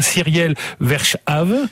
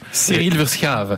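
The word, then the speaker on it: Cyriel Verschaeve: ancien prêtre qui s'appelle alors je je le prononcer de façon un peu à la française he Cyriel verchave cyil verave voilà c'est ça qui est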